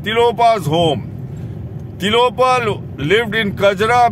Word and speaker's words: Kajra: home naropa's home tiropa's home tilopan lived in kajra mispronounced by tibetans as jagora they say he was either in jagoda or